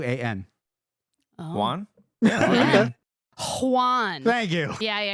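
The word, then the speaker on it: Huan: skipped the pronunciation key can't what is it spell it h u a an Juan Juan thank you yeah yeah yeah let's go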